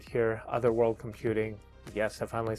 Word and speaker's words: Otherworld Computing: Hopefully I've made somewhat sense and the reason why I chose this particular enclosure right here, Otherworld Computing.